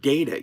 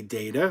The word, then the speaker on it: data: Like the word data. You could say data or you could say data. Though most people, because of Star Trek, now say data.